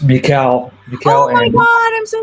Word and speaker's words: mIEKAL: super excited about please welcome to this stage Michael and he does uh what what do you what do you do what do you do Michael uh well first of all it's pronounced Mikel oh my God I'm so sorry and um